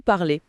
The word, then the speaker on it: parlez: Donc les seules terminaisons qu'on entend vraiment différemment, ce sont celles de "Nous parlons" Oui. Avec le son on et vous parlez avec le son e précisément.